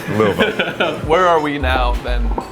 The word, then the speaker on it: Louisville: Ed: Yeah you can’t do that. Geoff: And she was just like, “Well that’s not…” Ed: You just gotta say it like you’ve had three drinks. Your tongue drops, your lips drop.